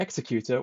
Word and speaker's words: Executor: I've had notes from last week's episode about a couple of my pronunciations, including me calling Vader's Star Destroyer the Executor when it's actually called the Executor, and calling Sienna Sienna.